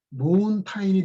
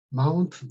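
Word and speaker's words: mountain: 사실 이 발음대로 이야기하게 되면은 모운타인이 돼야 맞죠. 근데 실제 발음은 마운튼 이렇게 되기 때문에 이 철자를 다 외워야 되는 것입니다.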